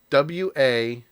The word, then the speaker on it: Uatu: i look it up according to marvel it's pronounced w-a-t-u watu and and keaton says fuatu also with